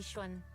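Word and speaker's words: Yixuan: You can call me Yishwan. Ishwan. Okay. I've apparently been pronouncing that not correctly.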